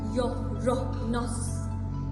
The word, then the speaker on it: Uranus: And yes, Uranus is pronounced like Yo-ro-nos. And it's no giggle-worthy version.